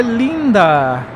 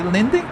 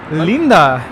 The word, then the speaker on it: linda: In Spanish, if you say "que linda," it's like saying "very nice." Que Lindy? Linda. Oh, just say Linda? Yeah, linda, but in Spanish it's linda.